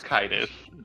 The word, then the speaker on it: Kitus: It's Kitus.